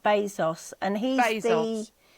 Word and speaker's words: Bezos: It's pronounced Bezos and he's the He's the CEO of um Amazon.